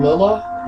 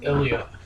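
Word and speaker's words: Ilia: You know, in the beginning, I used to say her name Lila, but it's actually Ilya.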